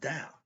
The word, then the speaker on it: Tao: But in Chinese, you see the T-E-O, what spells Tao, is pronounced Tao. But if you don't know that, you'll call it Tao.